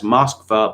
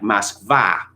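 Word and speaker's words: Москва: Half-educated people think that Moscow is known in Russia as Moskva, but it isn't. It is pronounced to sound much more like Moskva, with the emphasis heavily on the VA, because that is in Russian. Unstressed O's are pronounced as A.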